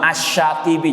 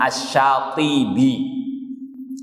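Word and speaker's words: الشاطبي: Imam Asy-Syatibi, jangan keliru ya, nanti dikira Imam Asy-Syafi'i. Imam Asy-Syatibi.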